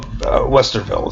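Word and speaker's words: Westerwelle: So Guido Westerveld is how you pronounce that.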